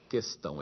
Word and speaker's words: questão: acordo com os funcionários não existe trema nessa palavra portanto e se unam deve ser lido questão é fato também que